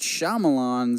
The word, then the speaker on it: Shyamalan: drop that title and go right back to how he should be pronounced M night Shyamalan 's glass we got